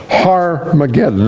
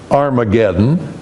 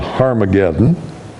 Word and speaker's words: Har-Magedon: Usually you see it Armageddon, but if we're going to pronounce the Hebrew, there's that H sound, the rough breathing up front, so it has to be called Har-Magedon.